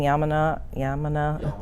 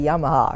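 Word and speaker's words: Yamuna: and yamana body rolling, yamana. I said it right. I always want to say Yamaha or something.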